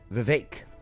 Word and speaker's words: Vivek: Vivek is how it's pronounced.